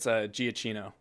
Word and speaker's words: Giacchino: It's Giacchino. Giacchino. Yeah. Okay. Is that how you pronounce that?